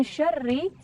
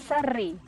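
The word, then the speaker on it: شر: Itu banyak yang tertukar dengan huruf sin yang harusnya adalah min syarri tapi membacanya min sarri. Nah, bukan min sarri, tapi insyaallah min syarri.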